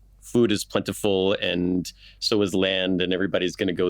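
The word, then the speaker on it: Ísland: it's called Iceland because in the Old Norse, it's Island. It's just spelled like we say the word island, but they pronounced it hard S.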